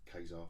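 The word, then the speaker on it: Ka-Zar: Kazar, I call him Kazar. It's not Kazar, is it? Or Kazar. Rhymes with Huzzar.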